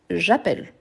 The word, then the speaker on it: j'appelle: donc juste appeler donc j'ppelle avec deux ailes pourquoi parce que le son il est plus ouvert j'appelle j'appelle ok j'appelle tu